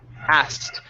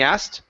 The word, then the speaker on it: asked: like like so as asked so there's no need to pronounce the k okay go straight to a t sound okay so we'll say what's that he asked what's that he asked there you go good